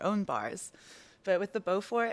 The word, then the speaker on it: Beaufort: So yeah, we're at the Savoy Hotel at the, how do you pronounce it? The The Beaufort Bar. Beaufort Bar.